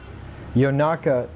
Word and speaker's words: Yonaka: country of the yakas yonaka is the way in which the poly pronounced ionian ionian Greeks in the